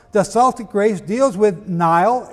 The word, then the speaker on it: Niall: The Celtic race deals with Niall, N-I-U-L, or Neil, pronounced today, youngest son of Phineas, Pharsis, king of Scythia.